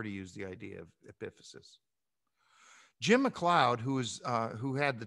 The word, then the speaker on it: epiphysis: The thing on the right is pronounced epiphysis, okay?